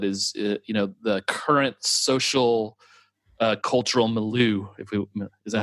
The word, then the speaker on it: milieu: Yeah, well, I think something you and I chat about quite a bit, but is the current social cultural milieu. Is that how you say that, milieu?